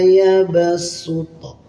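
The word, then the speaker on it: يَبْسُطُ: Wallahu yaqbidhu wa yabsuto. Shad yang berharakat domah diganti dengan sin yang berharakat domah. Yabsuto.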